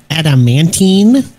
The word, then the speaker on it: adamantine: glasses on those um actually it's pronounced adamantine what's going to head